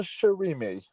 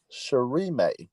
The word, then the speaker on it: Shirime: of the um what all the syllables will always have the same sound unlike English so it's uh the same May is in anime she is in sushii she may oh my